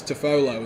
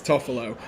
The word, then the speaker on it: Toffolo: player harry tuffalo um i always read it as toffolo and then go oh no i know how to pronounce it it's toffelo but he's a he's